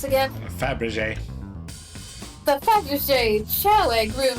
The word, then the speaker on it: Fabergé: Access the Flamberge What's it pronounced again? Fabergé.